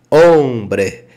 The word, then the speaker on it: hombre: diz homem né aquele homem né se diz hombre se disso hombre Então você esquece a partir de agora você